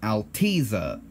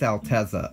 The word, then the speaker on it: Altezza: Altezza LM race car growing up I used to think it was Altezza a long e instead of a short e but I've learned that that's not how you say it it's Altezza apparently if I'm still wrong